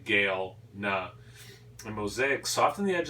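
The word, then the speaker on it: Galena: goku gilner g-a-l-e-n-a galma probably actually i pronounced the game now like like the name gail nuh and mosaic soften the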